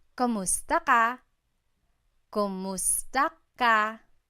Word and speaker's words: kumusta: Kumusta ka? So it's spelled K-U-M, kumusta ka. But sometimes you might hear some people say kamusta ka, like it's a K-A sound.